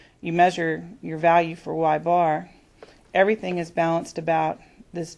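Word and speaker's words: ȳ: For a sample, the notation is the capital Y with an over bar, and that's just pronounced as Y bar.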